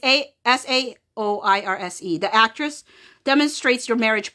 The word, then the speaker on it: Saoirse: It's like Sorsay or Sor, but it's Saoirse.